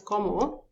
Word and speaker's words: comment: Comment, it is take the pronunciation as como, and then the T we don't pronounce here.